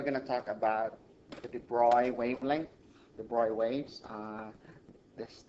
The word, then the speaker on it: de Broglie: so today we're going to talk about the debroy wavelength the boy waves this thing I hear is pronounced debroy in my earlier videos i may have pronounced